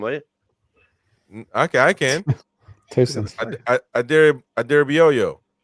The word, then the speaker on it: Adarabioyo: Adarabioyo. You guys say Adebayo. Adarabioyo. He doesn't want the yo-yo.